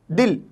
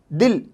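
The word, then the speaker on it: دل: रहा है यूज़, ज़ेर दाल में ही लगा हुआ है, लेकिन जब हम प्रोनाउंस करते हैं तो वो ई की आवाज़ बीच में आती है, दिल, दिल।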